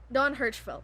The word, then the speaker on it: Don Hertzfeldt: Don Hertzfeldt, yes.